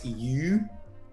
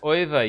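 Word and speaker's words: Euwe: regained it against max eu oh is that he lost to max oyva yes this is true okay so that's yeah that is the right way to pronounce it wow you know this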